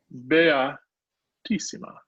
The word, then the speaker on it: beatissima: Seeing this word, English speakers are liable first pronunciation of that word to say beat. Beatissima. No, that ain't it.